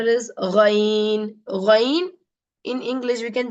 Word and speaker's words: غ: But in Arabic, we cannot, there's not a good pronunciation in English for that. So the real pronunciation of like this, Ghain. This is also a heavy letter. The ghain is also a heavy letter. It is like the water gargling inside your mouth.